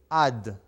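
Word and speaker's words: עד: a dalit which is in english would they pronounce ad okay ad means forever ad means for eternity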